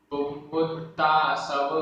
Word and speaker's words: पुव्वुत्तासव: पुव्वुत्तासव, पुव्वुत्तासव। यहाँ पर छोटा व, आधा व, पूरा व, छोटे उ की मात्रा, आधा ता, पूरा ता, बड़े आ की मात्रा।